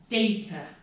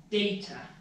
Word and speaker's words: data: Now, even my super advanced, amazingly fluent students often pronounce this incorrectly. So listen very carefully, it's data, data.